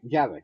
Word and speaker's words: Javik: Javik, I think it's pronounced. I can't remember how. Yeah, Javik, right.